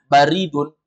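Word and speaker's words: بَارِد: kalau antum baca baridun baridun itu artinya pos tapi kalau antum baca baridun artinya dingin jadi jangan bilang barid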